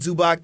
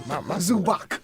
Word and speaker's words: Zubac: of us think of Zubac as like old Zubac that was just putting up hook shots and 5 rebounds. He not even Right. pronounce his name right. That's how much he don't respect him. Zubac.